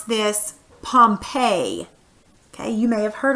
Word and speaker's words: Pompeii: gonna talk about this place right here you pronounce this Pompeii okay you may have heard of Pompeii before